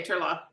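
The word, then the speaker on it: Turlough: you say it Carla you don't pronounce the GH no okay Turlock yeah oh Carolyn and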